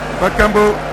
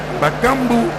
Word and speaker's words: Bakambu: Bakambo. Faut bien prononcer le nom. Bakambu.